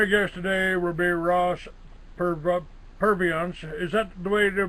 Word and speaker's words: Purviance: My guest today will be Ross Purviance. Is that the way to pronounce it, Ross?